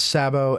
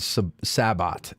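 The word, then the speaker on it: sabot: about artillery either and I've heard it pronounce Sabo and Sabbat and to me it sounds French and it should be Sabo I'm dropping the T that's what I'm going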